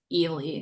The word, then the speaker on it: Ely: We're going to hear from Oksana to approve the installation of the is it Eli or Ely fence? Ely, I've heard both, but growing up here, it was always Ely, so I don't know.